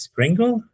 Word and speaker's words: Springle: Let me see if I got his pronunciation right. Is Springle? Springle, yeah.